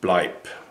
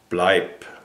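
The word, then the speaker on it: bleib: Stay in German is blight. B L E I B. Bipe. Bipe means stay. Bipe.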